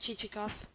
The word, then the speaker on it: Chichikov: Excellent, but not what I want, pronounced Chichikoff.